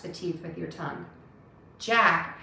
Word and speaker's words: Jack: teeth with your tongue jack has a j touch your teeth to start that sound zap jack zack jack